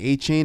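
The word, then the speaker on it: Achane: A, I always say his name wrong. A-Chain. It's A-Chain. A-Chain. I was about to say a con. I feel like Oh, I feel like I saw something with saying we were saying A-Chain and he's like correct everybody.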